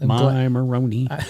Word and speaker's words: Moroni: Where the heck is Moroni? Moroni. I'm glad you asked. Rhymes with baloney?